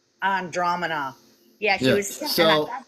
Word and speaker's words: Andromeda: from that one galaxy, and I'm going to pronounce it wrong, but Andromeda. No, it's Andromeda. Andromeda.